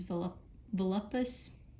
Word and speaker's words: Volupus: Now to do this, I'm gonna use contrast paints, and more specifically, I'm gonna use Volupus, that's how you say it, pink.